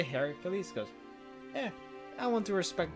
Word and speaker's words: Heracles: Hercules Hercules like Rome there's a wrong pronunciation that I've been taught to use that my entire life so he's kind of weird but I'm gonna say Heracles yeah I want to